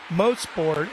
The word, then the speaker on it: Mosport: Mosport is a proper way to say, and it stands for motor sport.